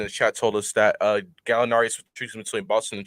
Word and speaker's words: Gallinari: Gallinari.